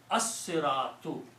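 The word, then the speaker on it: الصِّرَاطُ: Keeping that in mind, this swad kills the sound of lam. So it's a Shamsi. So pronunciation will be as-siratu. Siratu. So what it did, lam goes away and this becomes a shadda.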